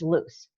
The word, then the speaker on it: LWS: Study, or LWS database, which we pronounce as LUS.